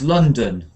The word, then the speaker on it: London: second sound is uh so the city name is l l l l London like this London London so London to train